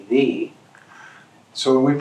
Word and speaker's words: ye: I mean, it never was meant to be ye, it was always meant to be thee.